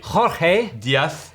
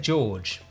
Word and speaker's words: Jorge: You're speaking Spanish. Jorge Diaz Rulo. Rulo. I think I said George.